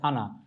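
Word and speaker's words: أنا: আরবি কোনটি আমি শব্দের আরবি হচ্ছে আনা এখানটা উচ্চারণ দেয়া আছে আনা অর্থ আমি তাহলে আমরা শিখে নিলাম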